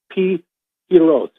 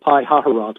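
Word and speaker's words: Pi-hahiroth: It's Pi Hiroth. Looks like Pi Haharoth, which is the way I've been saying it, but I guess in Hebrew it's a Pi Hiroth, in front of a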